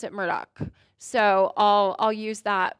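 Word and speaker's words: Murdaugh: in that you would say murd but they pronounce it Murdoch so I'll I'll use that pronunciation throughout the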